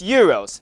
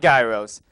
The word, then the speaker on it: gyros: downtown corvallis thanks willen don't be fooled by that silent g it's euros not gyros i got a chance